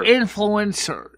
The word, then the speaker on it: influencer: Oh, influencer. Influenza report? Wait. Send me a link to it. I never heard of it. Michelle, you're adding a syllable to influencer. It's influencer.